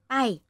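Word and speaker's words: ไป: It depends on how you pronounce it. I mean, how voice. Like... Angry. You said, bye เลย. Like this. That means clear off. Yeah. But to go is bye.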